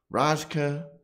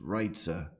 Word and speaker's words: Rajca: Michael Rajca, Rajca is what we just call him, but apparently his last name is pronounced Rajca.